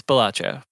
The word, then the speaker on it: Balatro: How do we pronounce this? I'm pretty sure it's Balatro. Balatro. I think it's Okay. Balatro. It's Balatro, for sure.